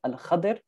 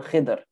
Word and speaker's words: Khidr: And the Hadith refers to him as Al-Khidr or Khidr, two ways that it's pronounced.